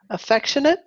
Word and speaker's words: affectionate: stubborn good obsessive obsessive affectionate affectionate I know it looks like affectionate but we don't say eight ate at the end of a word is it affectionate affectionate